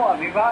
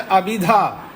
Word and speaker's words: अभिधा: जी, स्वामी जी को अभिधा तो अभिभा गलत बोल रहे हैं उच्चारण। अच्छा, अभिधा।